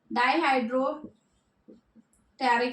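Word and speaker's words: dihydropteroic: ठीक है, टेरिडीन दोनों कंबाइंड होते हैं, क्या बनाते हैं, डाईहाइड्रो टेरिक एसिड, पी साइलेंट होता है अगेन।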